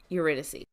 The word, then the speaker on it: Eurydice: refuse to pronounce. Eurydice.